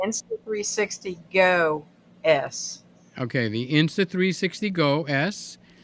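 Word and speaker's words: Insta360 GO S: new cameras we have the X360 is that the right way to say it uh s is new did I say it right S no you say you say that one okay say it insta 360 go s okay the insta 360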